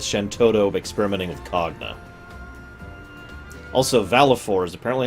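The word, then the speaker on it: Valefor: Also, Valifor is apparently how you're supposed to pronounce that. Not Valifor, not Velafor.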